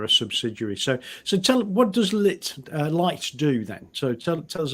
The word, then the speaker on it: Lytt: Because Lytt, I was being mispronounced. I was called Lit because it was a Y. It sounded like Lit to me. But Lytt is a subsidiary of BP, I believe.